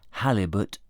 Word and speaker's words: halibut: He thinks that halibut rhymes with Malibu.